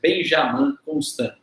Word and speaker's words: Benjamin Constant: menos teoricamente, por um francês chamado Benjamin Constant, ou, né, já ouvi também essa pronúncia, Benjamin Constant.